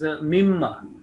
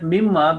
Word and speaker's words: mimma: So I was telling that mimma basically is two words, min and ma, but when they join together, min and ma, mimma, then alif is not written and not pronounced.